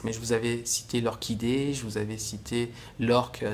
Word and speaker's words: orchidée: Et c'est marrant d'ailleurs là, parce que vous voyez, il y a un H, mais on ne le prononce pas.